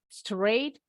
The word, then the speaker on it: straight: Okay, alright, now today's idiom is called straight A. Bacanya disambung straight A. Straight A. The GH is silent.